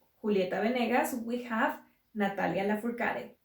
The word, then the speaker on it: Lafourcade: And for closing up, drawing inspiration from Julieta Venegas, we have Natalia Lafourcade. I have always thought that her last name is French, so it should be pronounced something more like Lafourcade, but I don't think